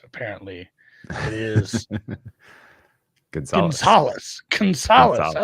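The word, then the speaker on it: Gonçalves: I'll tell you what the correct pronunciation is after. But I don't want to give it away. Goncalves. How do you say it? It's Gonzalez.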